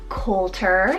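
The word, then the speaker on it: Colter: Coulter, spelled C-O-L-T-E-R, Coulter, with that nickname of Colt.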